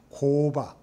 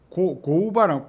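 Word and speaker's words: 工場: 공장은 공자가 코어라고 했습니다. 일본에서는 코바, 고우바입니다. 공자니까 고우바랑 기역 받침은 카행으로 발음을 많이 합니다.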